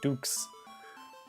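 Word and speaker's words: Düx: Yeah, Dynamite Ducks, it's kind of weird because the U in Ducks has an umlaut, so it should be pronounced Dynamite Dukes.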